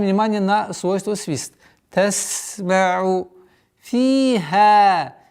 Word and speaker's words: فيها: Фиха. Фи. Ударение в размере двух огласовок. Касру удлиняем. Фиха. После удлиняем фатху 2 счета.